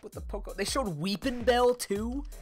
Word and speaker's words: Weepinbell: Like, Weepinbell is you literally just say its name phonetically. There's nothing you could do wrong with Weepinbell. Weepinbell? Like, I don't know. Weepinbeel? At that point, you're just not reading the letters in the name.